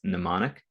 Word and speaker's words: mnemonic: nice mnemonic a mnemonic it's a silent m so it's pronounced mnemonic and a mnemonic is